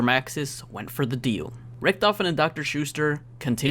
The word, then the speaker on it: Richthofen: Richthofen and Dr. Schuster continued It's actually pronounced Richthofen and Dr. Schuster!